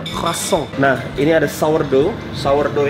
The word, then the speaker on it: croissant: Jadi kalau kalian biasanya makan roti putih, terus roti croissant, bacanya croissant ya, bukan croissant, croissant, R-nya harus cadel, croissant.